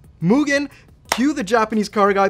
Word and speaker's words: Mugen: No, it's Mugen. Cue the Japanese car guy, please. The correct pronunciation is Mugen.